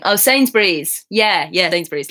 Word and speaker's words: Sainsbury's: Not Sunbury's. Is that the right spelling? Oh, Sainsbury's.